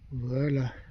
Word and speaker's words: Aber: un camping la Bero aber la ber varche comme dirait Marie Lore qui m'a repris et bien elle a eu bien raison. Moi je prononce avec un W, il faut prononcer comme un V.